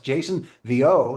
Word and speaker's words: Jason Vieaux: My guest has been Grammy winning classical guitarist Jason Vo. That's how it's pronounced.